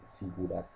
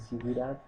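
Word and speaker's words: zigurat: a nombrar como los sigurat. Sigurat se escribe con Z, Z-I-G-U-R-A-T.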